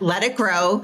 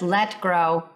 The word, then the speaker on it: Let Grow: So, Lenor Skynazy is president of Let Let It Grow. Nope. Oh, I said it wrong. But everybody does. Everybody says let it go. Let it grow. It's just let grow.